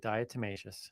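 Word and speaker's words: diatomaceous: Dietmacious.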